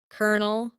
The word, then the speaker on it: colonel: This word is pronounced as colonel, colonel.